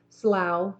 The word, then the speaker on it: Slough: seemed suitable to Emily Slough pronounced like how sounded disagreeable and so